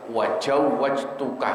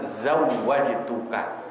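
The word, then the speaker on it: زوجتك: Angkah tuka, wajawwajtuka, kadang-kadang gitu kan. Padahal kan yang benar zawwajtuka, zai dulu baru jim.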